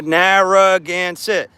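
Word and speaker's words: Narragansett: Narroance. Narroance. Narroance. Four syllables. Narroance.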